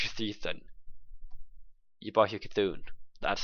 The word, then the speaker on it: Cthulhu: You buff your Cthulhu. That's how you pronounce it.